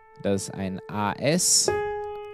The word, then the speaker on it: As: Das ist ein A-S. Allerdings zwei Vokale A und E hintereinander. Ja, das wird As ausgesprochen in dem Fall.